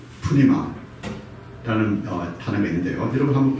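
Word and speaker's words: πνεῦμα: 그래서 이제 영어에서 이제 발음할 때는 뉴마라고 이렇게 표현해요. 뉴마. 그런데 이 그릭에서는 원어에서는 두 칸선들을 자음을 발음을 해줘야 돼요. 그래서 푸뉴마라고 이렇게 우리가 발음을 해야 됩니다.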